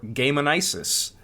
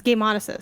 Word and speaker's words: Gameonysus: good to be here it's game monis game actually which is fair because it's a play on dionysis but some people pronounce dionysis dianis so right uh it